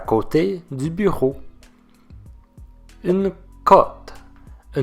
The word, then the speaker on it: côté: Mais le E accent aigu est prononcé. Notez la différence. Côte, côté.